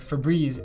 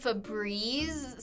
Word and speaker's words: Febreze: The sound Febreze sounds like there's 2 E's in there. If you spell it, I don't know why it would have 1 E like that. It'd be like Febreze.